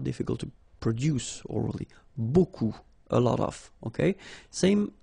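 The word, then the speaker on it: beaucoup: strange B like that remember you don't pronounce the final P okay and then you get this combination of vowels a u and you get the sound o so technically it's B okay so it's not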